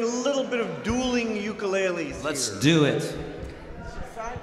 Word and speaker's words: ukulele: And it's pronounced ukulele, correct? That's the correct Hawaiian pronunciation.